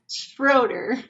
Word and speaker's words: Schroeder: to have and then how do you pronounce your last name again schroer schroer I okay I just I I'm was